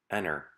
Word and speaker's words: enter: As I read them, notice how I just glide over the letter T in my pronunciation. Interview, enter, printer, winner.